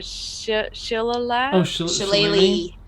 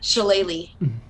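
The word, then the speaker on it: Shillelagh: can never pronounce it it's the Shilla laughs lately how's it pronounced shalay Lee not at all yeah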